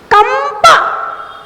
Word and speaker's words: कंप: कंप, बोलो कंप, पा के पहले बिंदी है ना तो कौन सा उच्चारण? मा।